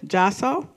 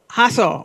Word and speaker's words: Jasso: Jasso. Did I say it right? Hasso, okay, gotcha.